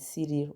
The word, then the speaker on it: Cyril: Saint Cyril, pronounced Cyril in Greek, Patriarch of Alexandria in Egypt, was born in the 4th century.